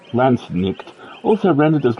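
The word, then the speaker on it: Landsknecht: may yes the L nectar singular L neck pronounced lannick also rendered as L neck or l quet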